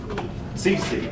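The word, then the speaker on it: Cixi: Her name is spelled C-I-X-I. I'm looking for the pronunciation of her name. I believe that's... How's that? Somebody pronounced it. Sisi. All right, thank you. Empress Sisi took over.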